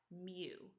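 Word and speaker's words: μ: mean is noted by this symbol, which is pronounced as mu.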